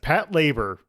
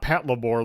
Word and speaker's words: Patlabor: fill a burr yes Pat labor and not Pat labore like I've been pronouncing every single time I've said it because